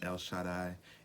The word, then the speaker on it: El Shaddai: how to say his name right it is el shaddai that means god almighty i hope you enjoyed